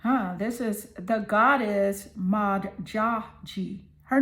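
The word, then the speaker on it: Modjadji: This is the goddess Maji. Her name is spelled M O D J A D J I.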